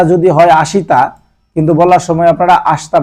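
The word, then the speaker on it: 明日: কিও কিও মানে হচ্ছে আস তারপর যায় দেখেন আসতা আসতা আসতা মানে হচ্ছে আগামীকাল উচ্চারণটা যদি হয় আসিতা কিন্তু বলার সময় আপনারা আসতা বলবেন আসতা আসতা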